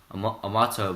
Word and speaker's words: Amartya: Amato, but it's spelled Amartya. So Amartya, as I also invited him days before to be a future guest of my podcast.